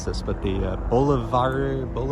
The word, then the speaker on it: Boulevardier: mispronounce this, but the Boulevardier, it's like the French pronunciation of Boulevard, which is, I think, a Negroni, but with whiskey instead of gin.